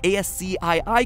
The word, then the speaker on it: ASCII: turned out to be ASC i i codes for different letters of the alphabet for those of you who don't know ASC I I codes or ASCII codes as it's properly pronounced the cringe is so